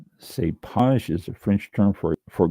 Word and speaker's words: cépage: This is a French term for grape variety, and it is pronounced cépage. Cépage is a French term for grape variety.